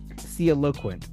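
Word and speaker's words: sialoquent: Seal or Thiel? C. It's spelled SIALO. Okay, C. QUENT. Theoloquent.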